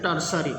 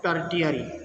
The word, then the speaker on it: tertiary: It is pronounced as a tertiary, not as tertiary.